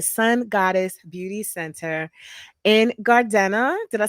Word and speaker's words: Gardena: I partner with the Sun Goddess Beauty Center in Gardena. Did I say it right? I want to say Gardenia. I was like, no.